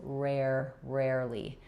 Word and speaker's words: rarely: So I'm going to rewrite it as rare because I want you to have know about this air. Again, just like in paranoid, we have the air for letters AR. And then ly, second syllable is unstressed. So rarely. If that gives you trouble, try just starting with air and then add your second R back. Air, rare. Then finally add ly, rarely.